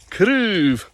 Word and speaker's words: craobh: And it's a good example too, those two words you can hear with a single syllable sound. It's quite long. Craobh. Craobh. And with a two syllable plural, craobhan is a little bit shorter. So that's the effect that stress has on certain sounds in Gaelic.